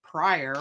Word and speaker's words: Pryor: and i'm originally from prior or prior creek prior creek oklahoma um depending on whether you're from there not how you say it but we are